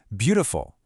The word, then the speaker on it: beautiful: And one more. Beautiful. We clap on be.